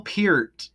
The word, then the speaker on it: Peart: Neil Pier.